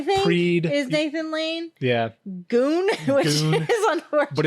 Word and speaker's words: Gune: Goon, which is unfortunate. But it's spelled Gune, which you would never even know if you didn't have subtitles on.